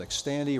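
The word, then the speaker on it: Xtandi: enzalutamide actually also called X Tandy rhymes with candy this is a powerful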